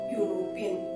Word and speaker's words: European: Year is a consonant sound. Therefore, we used a before European.